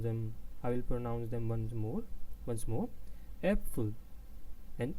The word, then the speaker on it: Äpfel: Ähnlich, I will pronounce them once more. Äpfel and ähnlich, Äpfel and ähnlich, which means apples.